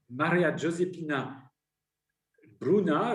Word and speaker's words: Maria Giuseppina Bruna: Maria Giuseppina Bruna, je le prononce, je me permets de le faire à l'italienne si tu veux bien,